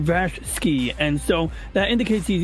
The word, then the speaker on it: VashSky: you know critical Drinker might be Irish but V sky is often mispronounced it's actually Vash ski it's his like real name Vash ski and so that indicates he's Eastern European so